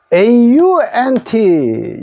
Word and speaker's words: aunt: aunt. 요것도 ant입니다. 요럴 때 u는 요게 소리 나지 않았습니다. 묵음속으로 하는데 요 두 자가 에 소리 났다고 생각하면 됩니다.